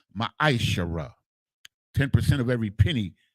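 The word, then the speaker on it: מעשר: 10 means 10th in the Hebrew and is pronounced maishara ten percent of every penny of any increase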